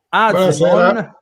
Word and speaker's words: Azemon: Assolutamente, dopo andiamo su Azemon. Buonasera. Una cosa me la devi dire, il tuo cognome come si pronuncia? Proprio esattamente come si legge? Azemon, così. Proprio così, perfetto.